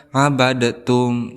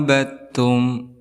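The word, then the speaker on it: عَبَدْتُمْ: Di sini dihukumi sebagai idgham mutajanisain karena ada huruf dal sukun bertemu dengan ta maka tidak boleh dibacanya abadatum tetapi kita langsung memasukkan huruf dal ini kepada huruf ta. Abidum ma abattum seperti itu.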